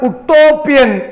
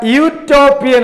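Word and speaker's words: utopian: അത് ഉട്ടോപ്യൻ, ഉട്ടോപ്യൻ എന്ന് വായിച്ചാൽ നമ്മൾ ആനെഴുതിപ്പോകും. അത് യൂട്ടോപ്യൻ ആണ്. അത് മലയാളത്തിൽ എഴുതുമ്പോൾ യൂട്ടോപ്യൻ ഇങ്ങനെ വരും. യാ വ്യഞ്ജനാക്ഷരം, വ്യഞ്ജനത്തിന്റെ ഉച്ചാരണം.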